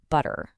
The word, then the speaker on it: butter: Think about the word butter. In a more standard American or British pronunciation, you hear that sharp T sound right in the middle, but-ter. Now listen for the swap. Instead of that T, a speaker might use a glottal stop.